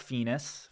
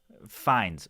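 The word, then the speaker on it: Fiennes: So that's Ralph Fenus. Fenus Fines. Ralph Fines. I think actually it's it's I can tell you how it's spelled. F I N.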